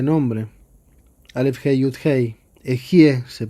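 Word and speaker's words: אהיה: Las 41 letras de este nombre, Aleph, Hei, Yud, Hei, Ejie se pronuncia, es el nombre más elevado del Dios, es como Dios se llama a sí mismo.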